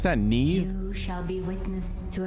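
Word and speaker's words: Niamh: you may call me me that's how you pronounce that Neve who shall be witness to a fable pay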